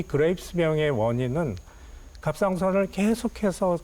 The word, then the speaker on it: 그레이브스병: 제가 그 학생 때 그레이스병은 그레이브스병 네. 말이 좀 어려워요. 네, 그레이브스. 그레이브스병. 의사님 저도 발음하기가 쉽지가 않는데 이게 그 갑상선 기능 항진증하고 거의 같은 말이다.